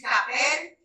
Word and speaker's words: t'appelles: sur appelle je t'appelle attention avec le s à la fin ça ne prononce pas il elle il marche